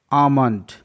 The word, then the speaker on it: almond: PALM, पाम, पाम, यहाँ पास LM का combination है जिसमें L साइलेंट है। पाम, पाम मतलब हथेली। आमंड, ALMOND, आमंड, आमंड मतलब होता है बादाम।